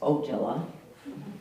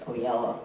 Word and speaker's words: Oella: the Oella family uh probably you know the name as oela but it was always pronounced Oella when I was growing up and they she had